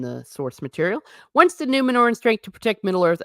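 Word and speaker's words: Númenor: All right, let's see what butchery they're going to be doing to Numenor, or rather, Numenor. Because, okay, you can roll your R's a little bit, but man, they went nuts.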